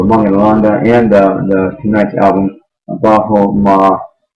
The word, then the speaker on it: Bhajo: The album is called Bhajo Ma, B-H-A-J-O. It's pronounced Bhajo in Hindi, and that means remembrance.